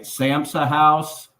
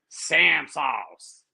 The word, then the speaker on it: Sam's House: So my man, it is Sam's House. That is how you say it.